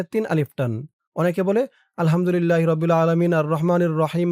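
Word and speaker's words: الحمد لله: অনেকে বলে আলহামদুলিল্লাহি। আল্লাহ শব্দ কোনটা কেমন উচ্চারণ করতে হবে এটা কিন্তু আপনারা অনেকেই জানেন না।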